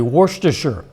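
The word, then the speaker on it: Worcester: hard it just left that guy speechless apparently warer is the correct pronunciation that sauce was invented in the English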